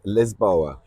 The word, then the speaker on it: Lisboa: And as the locals say it, Lisboa.